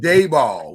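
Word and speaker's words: Daboll: is very freaking confusing our head coach is now brian dayball which is a weird pronunciation in its own right but nevertheless they come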